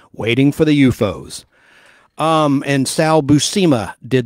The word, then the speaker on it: U-Foes: titled waiting for the UFOs and for the listener that's spelled like letter U like umbrella Dash f-o-e-s like foe is an enemy U Dash foes waiting for the UFOs um and Sal busima